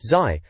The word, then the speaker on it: ZY: The reviewer, some bloke called ZY, pronounced Zai, apparently seems to think